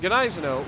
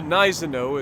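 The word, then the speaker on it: Gneisenau: since decided that the gennaiseno or the nizano as everybody keeps trying to tell me that the g is silent i get it uh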